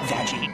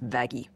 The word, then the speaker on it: Vaggie: I named you after the best thing ever vagi actually it's pronounced vaggie I guess I'll just tell Little Miss butterflies